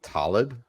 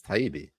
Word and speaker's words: Taibbi: Did you just call Matt Taibbi Talib? Oh, is it Taibbi? Yes, Taibbi.